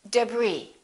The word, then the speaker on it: debris: Arkansas, Illinois, island, debris.